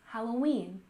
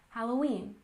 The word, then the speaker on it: Halloween: and next we have Halloween with a stress on the last syllable Halloween Halloween this holiday is the